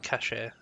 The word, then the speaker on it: cache: I always pronounce it cache, but I've heard people pronounce it cache. It makes me doubt how I'm meant to pronounce it. Quickly. Do you have them all? Lead on, Gabu. This way. Yeah, I prefer cache because it doesn't have an accent over the E. It doesn't look like it would have